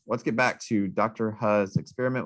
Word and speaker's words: He: Hu's experiment. We pronounce that Hu. It looks like he. It's really confusing because it's like in articles, it's like he did this.